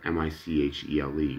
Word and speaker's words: Michele: Isn't that funny, I go by Michael, and yet my name, my first name is spelled M-I-C-H-E-L-E, which you would pronounce Michelle, but it's an Italian name, Michele.